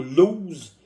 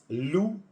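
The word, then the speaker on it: Lew's: Moi, je ne prononce pas le mot lose. Le monsieur s'appelait Lou Sheldry.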